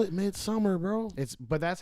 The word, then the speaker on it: Midsommar: But It's Midsommar, trash. though, I'll give the cinematography of that movie. It was really good. What And then movie said again? Midsommar.